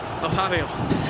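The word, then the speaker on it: Nazário: I've been practicing the R9 pronunciation. So, how is it again? Nazario.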